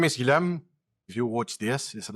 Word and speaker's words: Guillaume: So my name is Guillaume. If you watch this instead of listening as a podcast, you'll see my name tag. Here you go. Usually Americans, they don't pronounce it well.